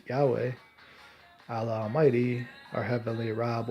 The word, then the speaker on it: Yahweh: but the Creator they say his name is pronounced Yahweh Allah Almighty are heavily robbed or raba raba